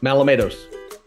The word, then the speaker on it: Malamatos: Did I say it right? Malamatos. There you go. That's the way you say it.